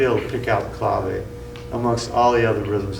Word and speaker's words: clave: permeated the word and pronounce it like clave, and they don't even say the E, but it's really called clave.